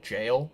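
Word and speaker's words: gaol: in a cold dark gal or or the proper pronunciation for that word is jail but I I don't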